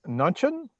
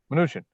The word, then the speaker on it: Mnuchin: Nunchin. I think it's Mnuchin. I say Mnuchin, yeah. Mnuchin.